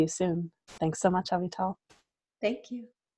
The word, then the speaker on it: Avital: Avital is spelt like Avital. It's just not pronounced that way.